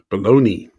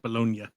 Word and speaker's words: Bologna: Mark Lynn Baker, Jessica Harper, and Joseph Bologna. It's actually pronounced bologna.a.a.a.a.a.a.a.a.a.a got it right. Yeah. People say bologn. It's pronounced bolognia.